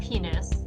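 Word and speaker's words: Pinus: maybe she's a pine penis it is actually pronounced penis oh okay uh but it's the uh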